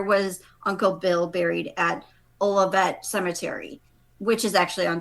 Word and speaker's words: Olivet: I always want to say Olive, but is it Olivet? I think it's Olivet. I think it's Olivet.